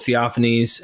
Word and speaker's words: Theophanes: the sources um this is the chronicle of theophanes am I saying that properly yeah absolutely right that's how I always pronounced it so in theophanese the cro uh